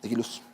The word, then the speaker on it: Eguiluz: ¿Eguiluz? Eguiluz. Así se pronuncia.